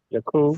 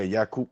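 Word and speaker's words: Yaqub: know, you might be familiar with the term Yakob. Yakob for Jake. Yeah. Yakob. Exactly. Yakob. This that's how we say his name as well in in Islam.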